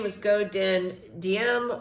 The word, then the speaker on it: Diem: His name was Go Dinh Diem, or sometimes it's pronounced Diem as well.